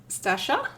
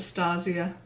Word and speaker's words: Stasia: How you going to pronounce my name? Stasha.